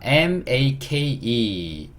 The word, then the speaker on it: make: 자, make, 그쵸. 미음. A는 여전히 A. 패턴이 비슷하죠. K는 Q. E는요, 묵음. 이게 의소리 달아줘야 되니까. 그쵸. 그럼 이렇게 합쳐지면 어떻게 돼요? may. K는요, K. 그쵸. make 이렇게 얘기할 수 있고 make의 의미는 뭘까요?